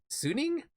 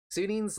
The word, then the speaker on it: Suning: But then they also have Suning, I'm pretty sure it's pronounced.